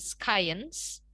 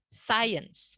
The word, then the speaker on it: science: Itu dibacanya bukan science, tapi science. Jadi C-nya itu di silent.